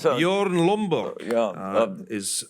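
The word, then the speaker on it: Bjørn Lomborg: And Lomborg, I think, is right to point out that given that this is Bjorn, how do you pronounce that? Bjorn Lomborg Yeah.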